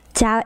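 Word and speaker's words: chào: In Vietnamese, it's like how you guys say ciao in Italian. We say the same thing. Ciao, either hi or goodbye. Hi or goodbye. Literally, it's pronounced like that.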